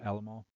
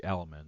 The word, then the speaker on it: Alam: So, Shane Curry, Eric Alam. Yes, that's Alamal. That's how that's pronounced. Looks like Al Looks like Alamman, but it's Alam.